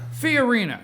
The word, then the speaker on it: Fiorina: Fiorina, yeah.